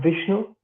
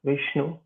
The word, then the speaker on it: Vishnu: on yourself and Astro seed yeah uh I'm Vishnu uh that's how it's pronounced Vishnu and uh it's not a company called astrosy